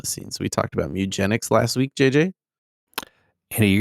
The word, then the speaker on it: Mewgenics: We talked about MEWgenics last week, JJ. Andy, you're going to have to pronounce that real carefully.